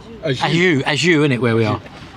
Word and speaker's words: Ajuy: Ajuy? Ajuy, isn't it, where we are? Ajuy, like a sneeze.